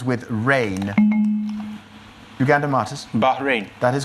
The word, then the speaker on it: Bahrain: of category Ramsey drain rhymes with rain it is the name of which island nation in the Persian Gulf rhymes with rain Uganda Martis Bahrain that is correct for